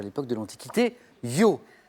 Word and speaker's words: Io: Et ça s'écrit Io. Hein, je m'adresse aux plus jeunes d'entre nous, amateurs de rap, de Smurf et Dieu sait quoi encore. C'est Yo-I-O, c'est un autre Yo.